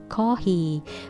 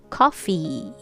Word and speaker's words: coffee: it's non-voice coffee coffee because if you say kahi that's h right h ha just blow out air ha kohi that's katakana english i guess but when you say this word in american english be careful it's coffee coffee good and